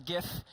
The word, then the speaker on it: GIF: This is GIF. If you look at the G, it's a hard G. There's only one G I've ever found in English that's a J, and that's giraffe.